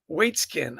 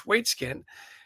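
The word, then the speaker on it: Waitzkin: And Josh, and I'm going to massacre his name here, but it's Waitskin, I think is how you pronounce this. Josh Waitskin wanted to create opportunity for these kids, the Raging Rooks.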